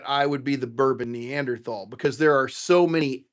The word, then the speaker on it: Neanderthal: Uh which I just said Neanderthal because that she explained to me that is actually how it's pronounced, and I said, "Well, aren't you smart?"